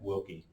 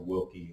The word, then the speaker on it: Willke: Jack Wilkie to our church to speak. If you don't know who Dr. Wilkie is, I encourage you to Google him.